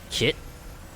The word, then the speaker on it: KT: I am KT 7461 KT is that gonna shortened uh kit phonetically that kind of pronounce it like kit right the Mountain Temple